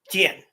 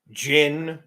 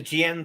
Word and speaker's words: jian: The biggest offender is the word jian when it's used. I've heard it pronounced Jin.